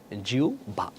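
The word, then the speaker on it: জিহ্বা: ওকে, আও ভান আর জিউবা সঠিক উচ্চারণ কি হবে, আহ্বান সঠিক উচ্চারণ হচ্ছে আও ভান, জিবা সঠিক উচ্চারণ হচ্ছে কি জিউ ভা।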